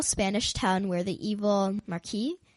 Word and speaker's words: Marquis: So long ago, a poor beggar comes to a little Spanish town where the evil Marquis, Yeah, don't pronounce the S.